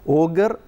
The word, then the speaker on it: Auger: And Auger electron spectroscopy, Auger is pronounced as Auger, Auger electron spectroscopy is the right way to pronounce it.